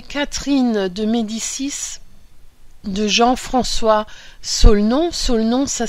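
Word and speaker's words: Solnon: ouvrages le premier Catherine de mdicis de Jean-François solenon solenon ça s'écrit s o L N O n il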